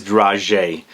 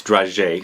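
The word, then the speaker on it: Dragée: name wrong this is dragae so i said drag a i don't know why i said that but it's a g but in french it's dragged so this is dragged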